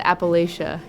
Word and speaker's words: Appalachia: That's where the Appalachia is. Actually, it's uh it's pronounced the Appalachia because they'll say if you say it's the Appalachia, then they'll throw an apple at you.